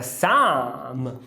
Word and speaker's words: some: A palavra some, quando ela é enfatizada, ela é pronunciada com carrot. E a palavra love também é com carrot. Esse aqui, ó, fácil. Quando o schwa for tônico, ele vira um carrot.